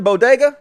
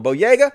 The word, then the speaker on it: Boyega: are angry as with john bodega no boyega i don't know how you pronounce his name john boyega because he posted